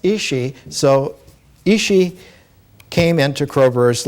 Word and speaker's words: Ishi: man but in the Yana language uh it's pronounced isi so isi came into crobar's life in 1961